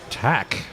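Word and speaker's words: Tkach: them around the factory and we have coach tack right and that spelled T a TK ACH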